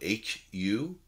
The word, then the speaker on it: HU: And HU is spelled H-U. It's pronounced HU, like a boy's name, HU.